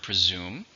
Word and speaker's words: presume: How many syllables are in external? 3. Stress on the second.